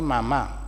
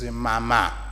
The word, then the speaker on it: Mama: And for us, Mama, it's not Mama. Same spelling word, but the way you pronounce it, it's Mama.